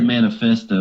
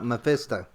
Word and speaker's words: Mephisto: the what's his name i always say manifest though but um i say manifesto you pronounce it differently oh oh uh oh uh mephisto yeah yeah if it's